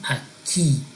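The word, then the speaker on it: aquí: the next one is a key a key and when you see the accent on that I it has a stress there so a key means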